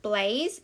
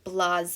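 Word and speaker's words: blasé: this word up here it is not blaze it is blase and it has that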